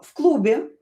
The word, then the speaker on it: в клубе: Uh, в клубе была громкая музыка. Okay, and here "в" will be pronounced as "ф".